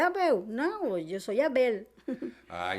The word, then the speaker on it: Abel: Abel. Abel.